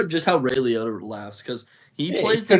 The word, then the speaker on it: Liotta: Is that not how it's pronounced? That's how you pronounce it? No, it's Liotta.